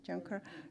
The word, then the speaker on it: Juncker: John Kerr was there John Kerr you pronounce it Juncker John Kerr was there